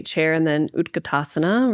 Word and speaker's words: utkatasana: Um so like you said chair pose, they may say chair and then utkatasana, right? Utkatasana. Yeah, let's do that. Did I say it right? Utkatasana.